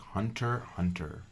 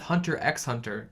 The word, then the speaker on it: Hunter x Hunter: you introduced me to a shonen series called Hunter x Hunter. I'm glad you say the proper pronunciation of that now, because a lot of people go with Hunter x Hunter.